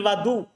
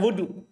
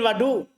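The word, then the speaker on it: الوضوء: Thumma adqala yaminahu fil wadu. Perhatikan bacanya fil wadu. Bukan wudu. Fil wadu.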